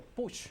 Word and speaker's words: Puig: En España no se dice Puig, sino se dice Puig en toda Europa.